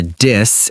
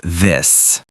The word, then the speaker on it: this: Oh yes, many learners say ting instead of thing or a dis instead of this. To pronounce it correctly, put your tongue between your teeth and blow air gently.